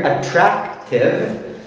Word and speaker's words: attractive: and handsome attractive okay accent on here attractive stunning stunning pretty no no